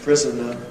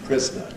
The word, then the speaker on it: prisoner: The other is the alternation in words like prisoner, becoming prisoner.